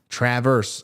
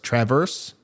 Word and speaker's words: Traverse City: pronounce Traverse City okay is like the a in hat wait what it's like the a in hat hat Traverse Traverse am I saying that